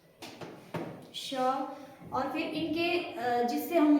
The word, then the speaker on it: श: तालु वाला स, इसको बोलेंगे तालु वाला श। ठीक है, तालु से इसका उच्चारण करेंगे हम श, यानी जीभ को हम पीछे वाले मुंह के ऊपरी भाग के पीछे वाले भाग से जीभ को टकराएंगे।